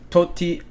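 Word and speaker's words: Tosti: that I'm looking at Thomas dietre uh Alejandro tosty or to toti that's how you pronounce it Alejandro toti um finished one under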